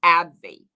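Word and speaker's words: AbbVie: zeroed in on abbv now this uh brand is spelled this way abb capital v i e okay abby they have a blockbuster drug known as humera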